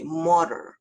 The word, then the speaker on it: murder: R하고 D가 이렇게 겹쳐지면은요, 발음이 murder 이렇게 됩니다.